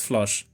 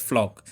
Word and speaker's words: Floch: always pronounced it as flush then i went and watched the english dub and saw that it's pronounced flock so my bad for